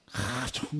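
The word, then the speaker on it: חזון: 요거는 좀 이 H 그러니까 히읗 발음도 센 발음이다. 그래서 이거를 하존 이렇게 발음을 합니다. 근데 뭐 보통 요즘 그냥 하존 뭐 이렇게 합니다.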